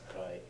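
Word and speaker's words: 来: When is that kanji that's what could, when is it pronounced rai? When it's part of two or more kanji compounds. So for example, raishu, next week.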